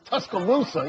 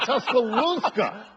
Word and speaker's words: Tuscaloosa: years in Texas and it's tus Tuscaloosa easy for me to say not tuscala which you said we're now correcting pronunciation